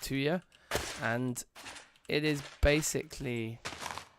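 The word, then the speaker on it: tuyère: But I'm pretty sure somebody on the live stream once who knew about like the real world of metalworking told me it's pronounced 2 year, and it is basically like a metal tube that you like blow.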